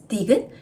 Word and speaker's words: 디귿: This is 디귿. It sounds D. D sound like Dynamite.